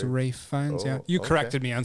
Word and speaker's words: Ralph Fiennes: There's no Rafe L Fiennes? in it. It's Rafe Fiennes.